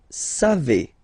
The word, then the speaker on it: savez: Then vous savez. Classic ending for vous, E-Z, but then phonetically it's E.